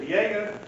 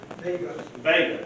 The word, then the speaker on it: Vega: application submitted by Alexander, is it Viega? Vega, okay.